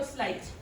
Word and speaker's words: Sleight: Then it's Cosmo Slate. Cosmo like the universe, Slate like the colour. It's spelled like slight, as in sleight of hand.